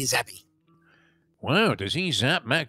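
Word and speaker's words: Zappe: of minutes uh this Bailey zappy is that how you pronounce it zappy or is it it's all they pronounce it it's Bailey zeppy wow does he zap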